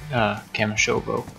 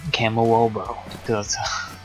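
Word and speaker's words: Kamyshovo: We're in Kamishobo, or as I called it for some reason, Kamowobo. Like, phonetically, how it looks like it's set.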